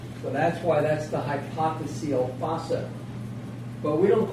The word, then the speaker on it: hypophyseal: there, is called the hypophyseal fossa. Hypophyseal fossa. Hypophyseal. You know how I can spell it? Hypophyseal. So hypophyseal, the same way SEAL.